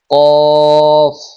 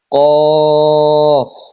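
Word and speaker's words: ك: 4 number মাখরাজ, জিহ্বার গোড়া তার বরাবর উপরে তালুর সঙ্গে লাগায়া উচ্চারিত হয় কফ। কফ। 5 নাম্বার মাখরাজ, জিহ্বার গোড়া থেকে একটু আগে বাড়িয়ে তার বরাবর উপরে তালুর সঙ্গে লাগিয়ে উচ্চারিত হয় কাফ।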